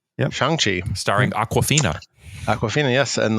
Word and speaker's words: Shang-Chi: I've learned on this show that I don't know how to pronounce it, but so it's Shang-Chi. Yep. Shang-Chi, starring Awkwafina.